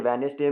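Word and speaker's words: Wednesday: जैसे वेडनेसडे में D silent है, अर्ली में ई साइलेंट है।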